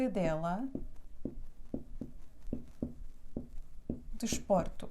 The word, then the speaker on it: desporto: última penúltima que dela o desporto desporto tu é a última sílaba por é a penúltima então o acento recai aqui cansado que dela desporto